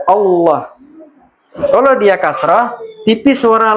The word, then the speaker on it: Allah: Seandainya ini hurufnya adalah fathah, maka tebal baca lamnya ballah. Seperti kalimat Allah. Nah, kalimat Allah itu sebelumnya ada fat fathah. Makanya tebal dia Allah.